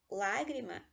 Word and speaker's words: Lágrima: Lágrima, a antepenúltima sílaba é a sílaba tônica, ou seja, ela é uma esdrúxula e todas as esdrúxulas levam acento.